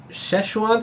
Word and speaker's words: Szechuan: So Szechuan sauce, that's how you say it.